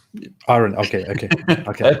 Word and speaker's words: Aron: wanting to speak to for quite a while aaron ra uh erin how are you doing it's all right it's aaron okay okay okay i have to correct absolutely